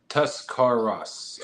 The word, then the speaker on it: Tuscarawas: Tuscaras.